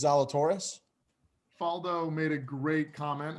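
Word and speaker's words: Zalatoris: his name will zalatore how do you pronounce his last name i think it's zalatorius faldo made a great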